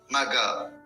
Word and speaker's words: Magha: This is how we pronounce the name. Maga.